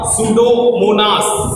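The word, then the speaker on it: Pseudomonas: याद रखो P silent है इसमें, नाम क्या हो गया? सूडोमोनास।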